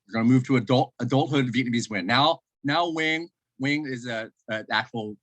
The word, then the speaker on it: Nguyen: Now, Nguyen is an actual pronunciation of my name.